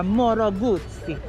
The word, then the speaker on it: Moto Guzzi: People call it Moto Guzzi, but I think you gotta pronounce this properly. Say Moto Guzzi. You gotta syllabicate every word.